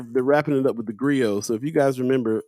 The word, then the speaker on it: Grio: And that's why Griot TV just launched and so on and so forth.